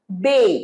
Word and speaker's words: bathe: পারো I will bathe, bathe মানেও স্নান করা, বাথ নয় এটা bathe, এটার প্রোনাউন্সিয়েশন কি bathe, I'll take my shower